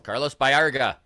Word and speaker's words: Carlos Baerga: All right, so now we've got, we had half a dozen people corrected our pronunciation of Carlos Baerga. So, Yes, Carlos Baerga.